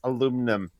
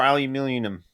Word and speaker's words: aluminium: Don't get me started on how American cousins pronounce aluminum or aluminium. Aluminum. Yeah, Aluminium. why don't you pronounce that second I?